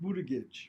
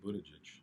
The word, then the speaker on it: Buttigieg: And they're all at federal positions except Buttigieg.